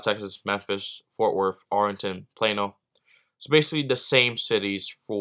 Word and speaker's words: Plano: Dallas, Texas, Memphis, Tennessee, Fort Worth, Arlington, and Plano, Texas.